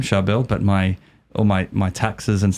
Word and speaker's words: Charbel: And it's a common thing, a lot of Charbels, because it's an Arabic or Syriac name specifically, and you say it like this, Charbel, very hard, it's a tongue twister.